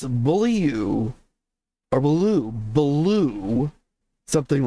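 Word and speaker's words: Beaulieu: likely absolutely true and she says that it's French and that I should be pronouncing it bully you or Bou.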